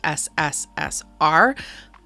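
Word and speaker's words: СССР: CP and I know in cilic that's actually pronounced sssr but just roll with me for the sake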